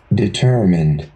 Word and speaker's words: determine: เอา งี้ เดี๋ยว เรา ไป ดู พจนานุกรม กัน determined determined determined determined อ๋อ แค่ เปิด พจนานุกรม พิมพ์